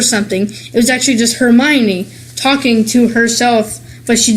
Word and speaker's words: Hermione: In the book, Hermione, I think that's how you say it.